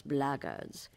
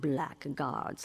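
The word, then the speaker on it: blackguard: another one of those blackards and that's the way to pronounce it not black guards like that Thug and insisted it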